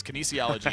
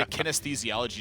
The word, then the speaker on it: kinesiology: Yes, kinesiology. I always want to say kinesthesiology just when I look at it.